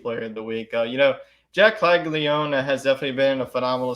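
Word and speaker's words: Caglianone: Jack Caglione. There you go, Caglione.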